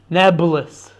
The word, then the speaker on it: Nablus: And then that sort of became corrupted into nabulus because the um the Arabs can't pronounce the P sound, right? So Arabs confuse the P and the B sound. So Neopololis becomes Nabulis.